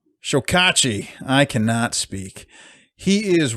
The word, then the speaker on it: Chokachi: Chokachi? Chokachi.